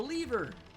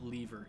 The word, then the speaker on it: lever: Pull the lever. I hate it when people pronounce it lever. It's lever. Like, do you see an A in the word lever that makes you say lever?